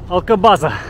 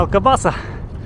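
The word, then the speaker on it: Alcobaça: Алкабаза. Ну, вообще, произносится Алкабаса, но очень похоже на Алкабазу.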